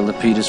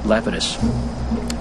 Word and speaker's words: Lapidus: this Yahoo hey leus they pronounce it leitus but I think the correct Greek uh is uh Lapidus uh I just ask